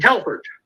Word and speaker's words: Telford: Think Jeff Tedford, but he's Kadeem Telford.